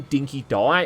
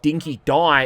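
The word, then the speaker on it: Dinky-Di: And you can't spell Chum Bucket without spelling chum, even if he does mispronounce the dog's name Dinky Die as Dinky D.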